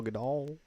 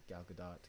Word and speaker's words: Gadot: Yeah, Gal Gadot, Gal Gadot. Gadot. I guess that makes sense too, because it ends with the T. Gal Gadot. Yeah, that's probably what should probably pronounce it as.